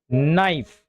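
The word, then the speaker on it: knife: तो इसे पढ़ा जाता है नाइफ।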